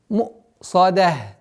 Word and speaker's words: مُؤْصَدَةٌ: Максимальное давление на гортань для произношения звука хамзы с сукуном является ошибкой. Мусадах.